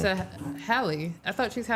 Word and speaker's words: Halle: Is it Haley? You're saying it wrong. It's Hie. Say it. Hie. Oh, she's a Hal. Like Halle Berry.